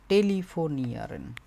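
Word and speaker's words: telefonieren: টেলিফোনের সাথে ইআরএন, IEREN, এই যে অংশটুকু, এইটুকু হচ্ছে এটার সাথে যোগ হয়। উচ্চারণটা হচ্ছে টেলিফোনিয়ারেন, এবং এটা মানে হচ্ছে ফোন কল করা।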